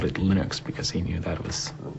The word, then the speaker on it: Linux: category how do you pronounce Linux well I pronounce Linux as Linux however however the total answer to that is